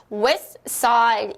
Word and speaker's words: west side: T가 생략이 됩니다. 그래서 West Side 이렇게 발음을 하실 수 있는 겁니다.